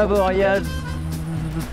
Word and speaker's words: Avoriaz: Bien arrivé à Avoria. Prononcez bien la lettre à la fin de la station, c'est important.